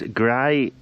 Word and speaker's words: Graean: Now these are the gravel wheels, and I've checked online and you pronounce this Graean, which is Welsh for gravel, so a good name.